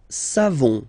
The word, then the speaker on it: savons: Nous savons. So classic ending for nous, O-N-S. You don't pronounce the final S. Nous savons.